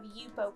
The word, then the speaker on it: Yupo: will you will also need a sheet of yupo paper let me show you this is the pad of yupo paper that i use um it's spelt y-u-p-o